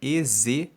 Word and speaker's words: ezraítas: Ezraítas se escreve E-Z-R-A-I-T-A-S.